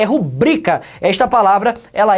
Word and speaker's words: rubrica: daí é sua rubrika não rola gente é rubrika esta palavra ela é paroxítona a sílaba tônica dela é o brilho e por